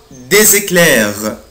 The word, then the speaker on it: des éclairs: هنا je prononce la lettre s z، il y a des، il y a des éclairs، il y a des éclairs في برق.